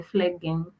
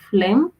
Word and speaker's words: phlegm: again and again, but I believe it's supposed to be phlegm.